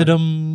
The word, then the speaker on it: Tudum: Netflix Tudum, is that how you You pronounce it? got to do it correctly. Come on. Tudum.